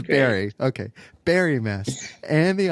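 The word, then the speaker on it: Barre: She's the co-founder of the Insight Meditation Society and God, and I remember you were talking about the pronunciation, Barry Mass, correct? Barry Mass. It is Barry.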